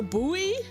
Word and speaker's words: buoy: How do you say it? A buoy? A boy? Isn't it pronounced a boy?